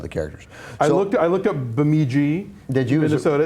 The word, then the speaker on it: Bemidji: I looked up Bemidji, Minnesota. It's even further north than Fargo is. It's, is that right? It's northeast, closer to the Canadian border in Michigan. In Minnesota, sorry. Bemidji, that's how we say it, right?